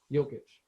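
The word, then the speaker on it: Jokić: i don't i don't know if he's not pronounced joe no it's joker they call him joker does he have a name jokish yeah there you go espn rights no just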